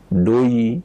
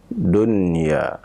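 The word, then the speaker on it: دنيا: huruf ya akan tetapi cara membacanya ya adalah tetap dibaca dengan jelas dan bukan doi ya tapi Dunn dunia kalimat yang kedua adalah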